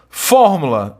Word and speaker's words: fórmula: Fórmula e pública, aí sim, nós temos duas palavras proparoxítonas. Tudo bem? Sílaba tônica é antepenúltima.